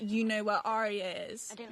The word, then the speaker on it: Arya: But it's not Arya, it's Arya. It's just Arya. Arya. Like 2 syllables.